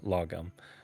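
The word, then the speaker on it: lagom: i was able to look up the swedish pronunciation yes uh lagum um yeah so i'm really pleased to know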